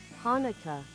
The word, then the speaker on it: Hanukkah: should chan I guess you'd pronounce chanuka then or is it more like a kanuka? Hang on. I actually need to figure this out. Hanukkah. Huh? It's pronounced the same.